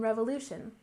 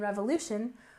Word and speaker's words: revolution: next we have American Revolution don't forget that we stress the second syllable in American American and Revolution we stress the third syllable revolution revolution and this was the